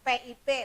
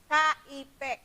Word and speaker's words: kip: Mata uang untuk negara ini yaitu cukup dengan kata KIP, KIP, bukan PIP tapi KIP, KIP ya dibacanya.